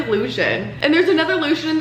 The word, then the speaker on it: Lucian: like a clown, like when I did Lucian earlier in this video. It's literally Lucian, and there's another Lucian in this book.